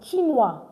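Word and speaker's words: chinois: So don't forget chinua. Chinua. C H I N O I S. W because O I is Y in French.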